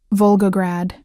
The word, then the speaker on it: Volgograd: Volgograd. He pronounced it perfectly, with the rolling R and the soft consonants of home.